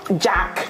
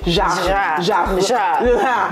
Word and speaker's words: Jacques: Okay, it's almost like how, you know how French people say it's actually not, it's not Jack, it's Jacques.